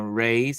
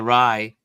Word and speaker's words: Rye: Yes, they've been, and shout out to Native Land podcast, because it is Angela Reyes. I hope I say her name right. Rye, sorry, Rye. Angela Rye, who's been really like one of the pushers to get this pardon done.